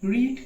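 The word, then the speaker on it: read: কি পড় ইংলিশ কি রিড কিন্তু পড়েছিল পাস্ট বসবে এখানে একটা ইন্টারেস্টিং ব্যাপার আছে সেটা হচ্ছে বানানটা একই থাকবে এটাই হবে কিন্তু উচ্চারণটা হবে রেড রিড হবে না ঠিক আছে রেড এবার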